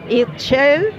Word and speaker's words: Ixchel: chocolate aquí esta familia se llama itxel así se pronuncia itzel y es la diosa